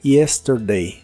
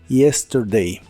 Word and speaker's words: yesterday: Yesterday que significa ayer Recuerda que la y y en inglés se pronuncia como una I muy suave Yesterday Yesterday y usaremos la frase